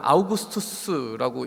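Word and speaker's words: Augustus: 그 아구스도라고 하는, 아우구스투스라고 이렇게 본래 발음이 읽혀지죠.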